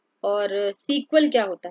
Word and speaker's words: SQL: माय सीक्वल नहीं कहते जबकि एसक्यूएल को हम सीक्वल पढ़ते हैं ठीक है लेकिन माय